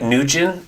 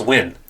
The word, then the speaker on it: Nguyen: Well, that's like Nugent, and sometimes like, no, it's Win.